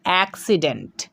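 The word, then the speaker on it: accident: তাহলে double C এর পরে কিন্তু আমরা আই লেটারটিকে এবার দেখতে পাচ্ছি, তাই কিন্তু একটা সি এর উচ্চারণ হচ্ছে ক, আর একটা সি এর উচ্চারণ হয়ে যাচ্ছে দন্ত স।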